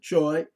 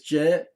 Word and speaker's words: Che: By the way, it's the birthday of one of the teachers, uh, Stephen Che, or some people pronounce it Choi, but it's Che.